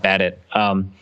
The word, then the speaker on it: Badet: running back Jeff badet I think his name is pronounced bad it wide receiver slash kick